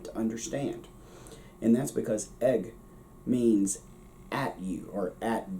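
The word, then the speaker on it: ag: the same iris uses egg it's pronounced egg spelled a g but egg now here's the thing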